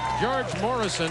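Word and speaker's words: Gheorghe Mureșan: International Applause thank you George Morrison I understand is how he pronounces his name from Romania played in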